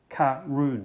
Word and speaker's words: Caorunn: okay though and the the tasting notes say that karoon is pronounced karoon well why didn't you